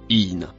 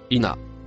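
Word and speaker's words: إن: Le mot rouge se prononce in ou ina.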